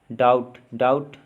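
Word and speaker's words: doubt: डाउट, डाउट में silent है B silent है।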